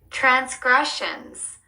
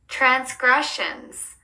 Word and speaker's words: transgressions: 두 번째 음절에 강세를 주어서 읽어 주세요. Transgressions. Transgressions.